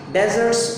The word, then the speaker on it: deserts: Now, in simple English, in plain English, we pronounce it like this: deserts of vast eternity.